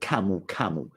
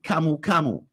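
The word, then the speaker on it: camu camu: best fruits in um Peru they call it kamu kamu has the highest vitamin C levels in the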